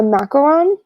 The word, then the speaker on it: macaron: It's actually a macaron. So it's Macaron. And when it's spelled like that, there's no coconut. If it's spelled macaroon, which is Macaroon, those will specifically have coconut in it.